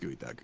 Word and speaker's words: geoduck: it and eat or geoduck it's geoduck right I think it's I think it's actually pronounced goey duck goey duck okay either way